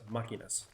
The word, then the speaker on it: Máquinas: Metal de las Máquinas. That little accent mark over the vowel tells you where the accent should go.